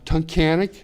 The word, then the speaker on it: Tunkhannock: me the name of the town you can pronounce better than I can uh Tunkhannock t-u-n-k-h-a-n-n-o-c-k Titanic okay so you went to school